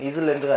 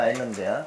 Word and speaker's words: island: 여기서 S자가 발음이 안 돼. 이슬랜드가 아니라 아일랜드야.